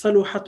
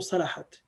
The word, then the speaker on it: صلحت: It can be made in many ways, صلحت or صلحت. So both types of languages is acceptable to say. So it could be pronounced as صلحت or صلحت.